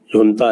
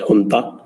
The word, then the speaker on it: junta: अब ये यहाँ का जो इंटरनल जो झगड़ा चल रहा था, इनकी जो जुनता है JUNTA प्रोनाउंस एज हुंता, तो ये इनकी जो